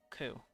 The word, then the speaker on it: Qu: Their world lay under a scorching sun, its intensity made monstrous through the interventions of the bygone Ku. That's how you pronounce it.